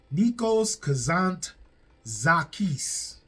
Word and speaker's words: Nikos Kazantzakis: And it is based off of a novel by Nikos Kazantzakis. Nikos Kazantzakis. That's probably more closer to the correct pronunciation.